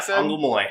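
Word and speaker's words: Angolmois: Next up is, so figured out the exact pronunciation of this because they said it in the show. Yep. Anglemoy? Yeah. Anglemoy? Yeah, Anglemoy. Yeah, is what the princess said.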